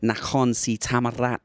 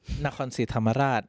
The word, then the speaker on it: Nakhon Si Thammarat: How do you get on with pronouncing Nakhon Si Thammarat? I have no problem with pronunciation. But especially Nakhon Si Thammarat, like. Oh, see that roll of the R?